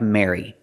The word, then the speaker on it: merry: Just pronounce them all the same, with the air sound, like hair and chair. Mary, Mary, and Mary. Pronounce them all exactly the same. First we have Merry, as in Merry Christmas.